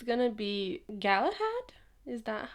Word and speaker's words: Galahad: It's gonna be Galahad? Is that how you pronounce that? Yeah, Galahad.